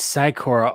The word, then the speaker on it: Sykora: It's Sykora all day long, every day.